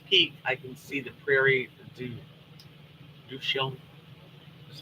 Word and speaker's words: Prairie du Chien: Connie said, if I go up the hill by my house, Pikes Peak, I can see the Prairie du Chien.